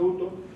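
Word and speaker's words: οὕτως: Porque en el original aparece un adverbio de modo, que es uto, esto se pronuncia uto, que significa así o de esta manera.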